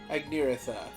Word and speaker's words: Agniratha: I love how they just pronounced it, and I'm already mispronouncing it again. Agniratha. There we go.